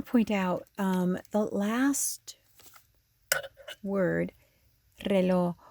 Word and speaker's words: reloj: I want to point out the last word, reloj. When a Spanish word starts with the R, it's more of a rolly R.